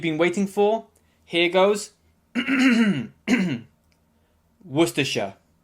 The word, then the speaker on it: Worcestershire: waiting for here goes worcestershire worcestershire yeah the spelling is quite confusing it makes it seem much longer than it actually is but don't worry if